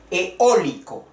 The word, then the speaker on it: eólico: Eólico. Es en el sonido de la voz que se escucha el acento. Eólico. El acento va en la O. Eólico. La vocal fuerte E, la vocal fuerte O, eólico.